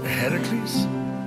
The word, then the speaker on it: Heracles: thing with your voice heracles yeah that that is how it's supposed to be pronounced seems like a lot